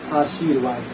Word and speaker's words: आशीर्वाद: लेकिन जब यही रा जो है यहाँ पे आ जाएगा तब आप इसका उच्चारण कीजिए, देखिए आशीर्वाद, तो यहाँ पे ये सही हुआ ना।